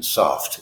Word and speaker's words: soft: on time soft soft the T is pronounced in soft it is not soft